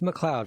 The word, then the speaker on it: MacLeod: Uh we've got MacLeod. It's great to be with you, Chris. How are you? Yeah, and it's pronounced MacLeod for everybody that maybe is confused about that.